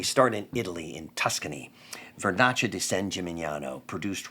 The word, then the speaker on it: Vernaccia di San Gimignano: Vernaccia di San Gimignano, produced right near Siena.